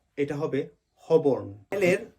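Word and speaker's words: Holborn: পরিচিত জায়গা হচ্ছে হবন কিন্তু আমরা সবাই ভুল উচ্চারণ করি আমরা বলি হলবর্ন নো এটা হবে হবন এর উচ্চারণটা হবে না আরেকটা জায়গা যেমন আমরা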